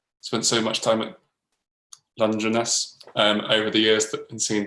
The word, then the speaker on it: Dungeness: Dungeness is pronounced line with lunge and then Arness.